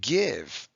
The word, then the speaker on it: give: that's a rule follower then we have give one syllable that we scoop we don't hear the e so we cross it out a macron over the eye because it's short v dash e but it's an exception okay so this is a